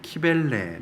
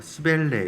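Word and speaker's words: Cybele: 이 마그마 마테르라는 이제 영어로 보니까 발음을 들어보니까 키벨레, 시벨레 이렇게 읽던데 이 키벨레, 이 시벨레 이가 바로 로마를 시작하게 한 데모신이라는 거예요.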